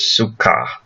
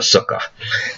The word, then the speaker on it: sukkah: The festival is called Sukkot, booths, it's the plural, and the singular is sukkah, or sometimes we emphasize the first syllable and call it a sukkah.